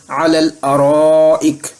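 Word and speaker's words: على الأرائك: کر الارائک پڑھیں گے، اور اسی الف اور لام سے پہلے اعلیٰ کا لفظ بھی آئے تو درمیان والا الف حذف ہو جائے گا اور تلفظ کریں گے علی الارائک۔ آئیے 2 مثالیں دیکھتے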